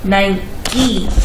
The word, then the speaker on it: Nike: from the Greek goddess of victory in it's pronounced 9e so the name 19 from Greek wow I